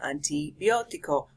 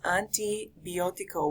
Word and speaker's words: antibiótico: So the A is not pronounced an, the I is not pronounced I, an I, a-I, antibiótico.